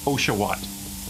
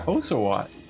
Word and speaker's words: Oshawott: It is Oshawott. That's how you pronounce it correctly, though. Yeah, thank you. You know, sometimes you gotta keep the little ones in line. Anywho, what? Yeah, Oshawott.